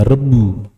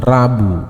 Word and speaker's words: rebu: Salah satunya yaitu budaya rebu. Ini rebu ya. R E B U bacanya Rebu. Bukan Rabu, bukan Rebu ya. Tapi Rebu. Harap dilafalkan dengan benar ya.